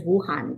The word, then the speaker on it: Wu Han: Helga, don't forget my name is Wuhan. You know, it's connected to the virus.